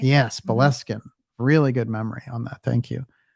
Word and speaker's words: Boleskine: I know we pronounce it Boleskine, but it's Boleskine, right? Yes, Boleskine.